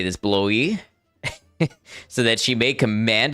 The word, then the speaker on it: Blois: Escort Joan to, how do you say this, Blois?